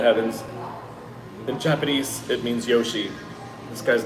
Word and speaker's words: Yoshi: chinese character but uh the japanese pronunciation of it i'm not mistaken it's yoshi y-o-s-h-i because there was actually